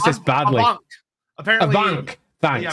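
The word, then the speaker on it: Afanc: Avank. Thanks. Yeah, apparently it's more like a V. Okay. Avank sounds good. Well, the VF shift makes sense.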